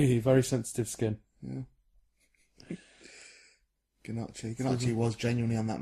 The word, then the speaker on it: gnocchi: I didn't go away afterwards and learn what gnocchi is. Gnocchi. It's Gnocchi. yeah, pronounced. gnocchi. Gnocchi. Well, let's not do the script as a commentary. Gnocchi's the correct pronunciation.